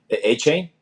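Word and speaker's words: Achane: Because I always said I don't even know A-Chain. how to say it. I always said A-Chain, like A-Train. But no, it's A-Chain. A-Chain because he said it.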